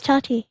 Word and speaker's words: Tati: It's Tati. Oh, it's Tati. Okay. It's just the way it's spelled.